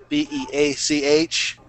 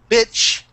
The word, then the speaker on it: beach: We would pronounce it, just so you know, B-E-A-C-H. We would pronounce it B-E-E-C-H. Beach. Because if you said bitch, bitch is a very insulting term.